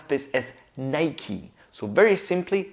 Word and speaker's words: Nike: different ways, something like Nike or Nike, something like that. But Americans pronounce this as Nike. So very simply, we start with Ni, like night, but without the T at the end, so Ni.